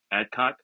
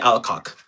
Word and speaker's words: Alcock: She her her name is Amelia Adcock. No, Millie. Millia Ameilia Alcock. Ameilia. Amelia Alcock. I'm sorry for pronouncing your name that way if you hate if you hurt.